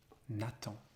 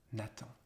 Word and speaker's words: Nathan: And we pronounce that first name in French, Nathan, Nathan.